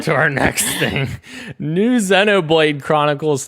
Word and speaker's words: Xenoblade: It's Xenoblade.